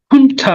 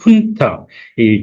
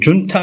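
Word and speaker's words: junta: 쪽에서 온 그 말이죠 어 훈타 아는 거 들어 보셨지 않을까 싶습니다 훈타이 준타 아니고 이제 그쪽 발음에서 훈타 하는 어 단어가 짧지만 어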